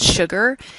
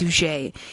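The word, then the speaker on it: Suger: sky named Abbott Suchet his name kind of looks like it's spelled sugar su ger but it's pronounced sujey and he's kind of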